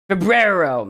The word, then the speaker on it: febrero: Maybe pronounced differently? Febrero. There we go.